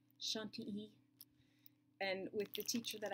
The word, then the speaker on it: Chantilly: see it right now you would say Chantilly lace it is not the proper way to pronounce it shun te and with the teacher